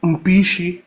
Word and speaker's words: Mpichi: Now that guy name is Mpichi. That is the right pronunciation, meaning honor of head.